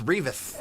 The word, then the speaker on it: Revas: Really saying it wrong. It's Revas.